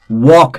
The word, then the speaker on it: walk: Walk, again L is silent.